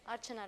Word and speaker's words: Archana: so my name is Archana and the way I tell people to remember my name is sigmund arch and anna and add that together